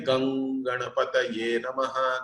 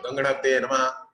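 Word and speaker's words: गं गणपतये नमः: When you say Gang Ganapataye Namaha, that Gang should be there for the right duration. You should not say Ganganapataye Namaha or Gang Ganapataye Namaha. You cannot prolong it. You cannot make it too short.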